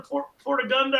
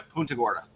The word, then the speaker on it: Punta Gorda: You're going to do one in Portagunda. How do you say that? Portagunda? Oh, yeah, Punta Gorda.